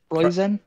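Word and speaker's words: Preußen: It's got the weird German B. And then Bird Scream. Yes. It's Preussen. Preussen? Okay. I will trust you guys more than me. Okay. That's a double S?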